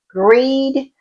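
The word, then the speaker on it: Grede: this dinner with Emma Greed. I got I got schooled about how to pronounce her name. So, it's supposedly announced I mean pronounced as greed.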